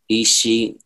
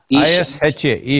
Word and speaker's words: Isha: Isha. I-S-H-A, Isha.